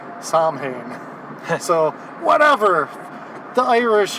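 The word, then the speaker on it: Samhain: of from yes from Ireland yes which is Sinn if you want to pronounce it more Irish Sinn yes but most people would know it as Sam Hayne and in this episode they just say sam ha so whatever the Irish it's a bunch of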